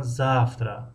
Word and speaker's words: завтра: مثلا завтра ударение در هجای یکم است، когда ударение در هجای دوم است و مثل همین ударение رو بمونه.